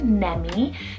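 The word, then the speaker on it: Nemy: I have Nemi, spelled N-E-M-Y, Nemi. Now this could be a cool like Remy alternative if you really love that ending sound, and it means sweet, and it's a West African rooted name.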